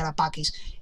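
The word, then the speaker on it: Ara Pacis: Parecen relieves como los de este templo romano llamado Arapakis, buscando por ahí, Arapacis, como se escribe. Solo que se pronuncia Arapakis.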